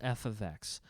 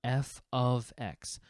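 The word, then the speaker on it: f(x): it so y equals f of X okay this is pronounced f of X this is not F times X this is not F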